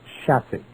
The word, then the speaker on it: chassis: It's pronounced chassis. I know a guy who's got one, and he said the pickup on the thing, chassis, is like a Pinto.